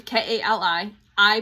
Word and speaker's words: Kali: So, Kie K A L I pronounce it Kaye.